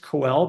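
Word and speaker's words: koel: this bird uh Asian coell and I know it's pronounced coell because it's named for the sound it makes and they're really really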